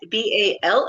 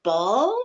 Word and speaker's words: Baal: it's not spelled the same. It's B-A-A-L. Ball, but it's still Ball, Baal.